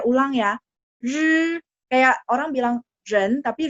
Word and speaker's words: 人: Nah, R-nya itu lidahnya pasti baca angkat. Ren, ya, ren. Mungkin dulu ejaan lama tulisnya gampangnya jadi J-E-N ya, jen gitu ya, jen. Iya, saya mengerti. Mungkin ada yang dulu diajarinya jen gitu ya.